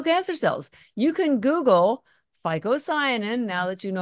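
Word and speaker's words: phycocyanin: a very unique pigment in it called fosin that's spelled phy Co c y a n ficoin you've probably never heard of it it's not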